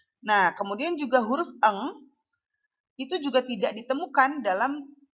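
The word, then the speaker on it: ڠ: Sehingga ini dibacanya eng.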